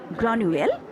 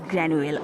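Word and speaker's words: Granuaile: Some pronounce Granuel, but we can pronounce Granuel also.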